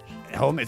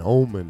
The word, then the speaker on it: Homens: Yeah, Omen. Omen. Oh, yeah. He's saying Omen. She's saying yeah, I no. forgot, like, drop the H. It's like the hombre means man in Spanish, and Omen, I think, must be Portuguese or French for man.